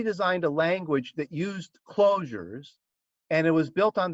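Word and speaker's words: Clojure: a language that used closures and it was built on the java virtual machine so they called it closure spelling it with a j okay and spell it with ju for some reason yeah so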